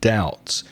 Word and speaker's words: doubt: you an example with doubts one thing about the pronunciation there is a silent letter a silent B in doubt it's do you bTW so listen to the pronunciation doubt I doubt doubt is when you